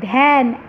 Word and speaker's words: ধ্যান: ধ্যান আমরা কখনোই বলি না ধান বা ধ্যান, এরকম কিছু বলি না, আমরা কি বলি ধ্যান, এ এ উচ্চারণ হয়।